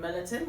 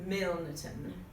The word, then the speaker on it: Milnerton: For those of you that don't live in Millerton, you have to pronounce the N, so Milnerton.